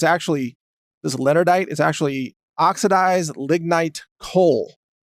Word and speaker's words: leonardite: using is called, well, at first I called it leonardite, but I've since learned it's pronounced leonardite, but it's kind of spelled leonardite.